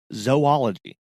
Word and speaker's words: zoology: It is zo, Z-O, and then ology, right? That's all the O's match.